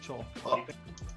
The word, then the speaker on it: Chuul: Yeah, they are called Chul.